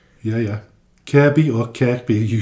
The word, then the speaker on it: Kirkby: So, it's spelled Kirkby but pronounced Kirby.